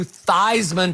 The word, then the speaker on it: Theismann: a Heisman campaign but he actually changed the pronunciation of his last name from Theismann to Theismann to rhyme with Heisman so Joe did tend